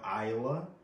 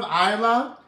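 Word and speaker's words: Iyla: We have Isla. Isla. You just effed me up with that. Isla. Listen, everybody on Facebook, everybody on Instagram, listen to this. If you haven't heard of Isla, her name is spelled I-Y-L-A.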